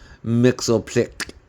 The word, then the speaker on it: Mxyzptlk: And it's pronounced Mr. Mxyzptlk.